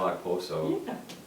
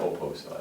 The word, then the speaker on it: Okposo: And our favorite signing, as you might figure, is Kyle Okposo to the Buffalo Sabres, or Kyle Oposo, I think is Okposo. technically how it's pronounced.